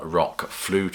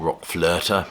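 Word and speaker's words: RökFlöte: couple of numbers from Rock flute or Rock flirter however you want to pronounce it I'll go for the English pronunciation Rock flute and of course we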